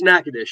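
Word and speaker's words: Nacogdoches: That's called Nacadesh, by the way. I'm glad you pronounced it. It's Nackadesh.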